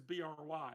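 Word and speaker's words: Brigh: it actually says uh it says b-r-i-g-h and then in parentheses it says Bry so I'm assuming the pronunciation is not a cheese it is not bringing it is Bry but um so you've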